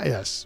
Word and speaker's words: Weiss: Never do say his name right, but it's Weiss. Weiss.